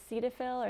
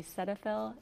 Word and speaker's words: Cetaphil: talking about a little earlier yeah um i pronounced it cetaphil or some people say cetaphil it's c e t a p h i